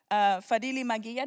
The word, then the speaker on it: Fadhili Maghiya: Fadili Magia, did I say it right, your last name?